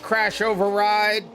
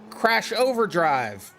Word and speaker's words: Crash Override: Hey, Crash Override. Sorry I keep mispronouncing your name. To me, you're Crash Overdrive.